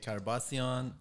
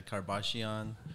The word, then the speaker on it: Karbasion: be right in America so you can say Chara bossy on you can say kar-bash-ian you can say Kardashian we won't say Kardashian